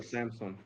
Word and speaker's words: Samsung: Yeah, that's like a amp that I can't pronouncing it probably. And on the right looks like you have Samsung. Samsung or Samsung?